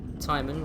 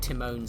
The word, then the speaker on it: Timon: Timon rhymes with Simon. Just prefer saying it that way. It's not Timone's axe.